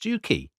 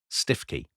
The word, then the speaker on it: Stiffkey: called stookie blues but the people of the area call the place stiffy.